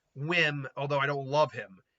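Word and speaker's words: Wim: whim but well it's I think it's pronounced whim but it's spelled whim wiim so yeah I um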